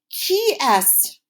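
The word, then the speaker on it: qui est-ce: we ask this question that is pronounced very differently than it looks say it after me it's key s KY so I can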